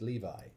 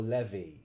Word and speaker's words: Levi: initiated a conversation about how you pronounce Levi and I think most people pronounce it Levi well that's the correct way yes right so chazmo apparently calls it leie or Levy Levy I think maybe